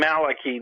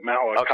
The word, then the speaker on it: Malachi: sure what father Malaki he pronounced his name Malaki though he didn't mind if people pronounced it Malachi I always thought it